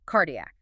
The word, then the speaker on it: cardiac: So, cardiac. Yeah. C followed by A gives you a hard K, colon, gastric gonad.